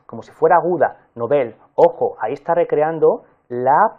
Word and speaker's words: Nobel: informaciones primero cómo se pronuncia esta palabra se pronuncia como si fuera aguda nobel ojo ahí está recreando la pronunciación no la